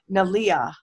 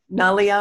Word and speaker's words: Nalia: And I think we said Nalia or something like that, but it's Nalia. Nalia is how she pronounces it.